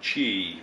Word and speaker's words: Qi: uh wireless power transfer and chi which is spelt q i don't know why they pronounce it chi so wpt and qi